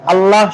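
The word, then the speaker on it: الله: বা পেশ হয় যদি আল্লাহ শব্দের লামের পূর্বাক্ষরে জবর বা পেশ হয় অথবা যদি এখানেও দেওয়া যায় তাহলে আল্লাহ শব্দের লামকে পড়ো মোটা আওয়াজে পড়তে হয় রাসুলুল্লাহ এখানে এই লামটাই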